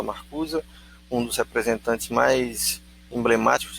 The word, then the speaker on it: Marcuse: Vocês podem ver Herbert Marcuse, se escreve Marcuse, mas se fala Marcuse, um dos representantes mais emblemáticos da escola de Frankfurt, um combatente bastante corajoso.